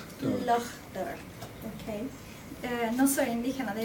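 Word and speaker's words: Lough Derg: ¿Cómo se pronuncia Lochder? Lochder.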